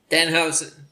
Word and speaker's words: Danhausen: Brian Shoemaker says Danhausen. Did I pronounce that right? Danhausen. Yes. I did pronounce it right.